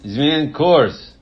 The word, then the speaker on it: Zmień kurs: Polish title is Zmień kurs. Can you pronounce it? Zmień kurs? Zmień kurs.